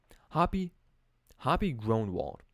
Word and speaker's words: Groenewald: Hoppy Groenewald.